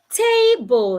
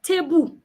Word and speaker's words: table: As a Nigerian, I might say tebu. I might say the 2 syllables together. Tebu. I would say it the same way. Tebu. That is wrong.